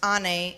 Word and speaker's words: Anne: curious and energetic girls my name Anne pronounced Ane is the Turkish word for mother this is the most